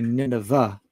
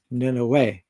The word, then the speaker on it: Nineveh: So I'm just doing a search for the word Nineveh, which in English people generally say Nineveh, and it sounds like a but it's actually pronounced Nineveh, just as in Yahweh.